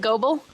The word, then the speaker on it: Gobul: And they freaking said that you're supposed to pronounce Gobble as Gobble, and I will never ever do that ever. How do you spell it? It is Gobul, Oh. and we pronounce it Gobble.